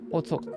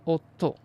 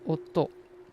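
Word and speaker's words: おっと: and then the top Auto and instead of Auto we say Otto since we have two T's we want to pronounce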